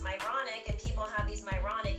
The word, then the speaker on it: Myronuk: when I even though my last name is pronounced moronic and people have these